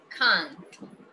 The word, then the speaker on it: can't: Can't, con la T. Can't.